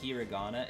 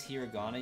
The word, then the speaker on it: Hirana: time uh that is I think I might have said hiana if I did I apologize that is hirana you wrote I believe